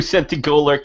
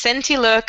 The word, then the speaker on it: Centilurk: trying to get through Centigolurk and Centigolets in Ravenscore. This has taken a while for You them. still don't say it properly. It's Centilurk and Centilet.